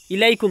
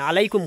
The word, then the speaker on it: আলাইকুম: ইলাইকুম না আলাইকুম কইস।